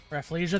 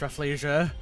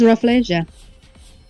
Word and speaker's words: Rafflesia: Refleia. That's how it's pronounced. I've never had anybody tell me how to pronounce Refleia. Thank you. I thought it was Rafflesia.